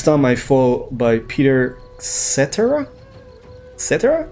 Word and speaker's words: Cetera: i fall by peter cetera et cetera is that a name like etc it's pronounced the same it's spelled the same with amy grant that's